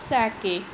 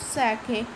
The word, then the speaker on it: sake: So Taro's father was telling that he want a cup of sake. Sake means a popular Japanese drink. Sa is pronounced like fa in father, and k rhymes with way.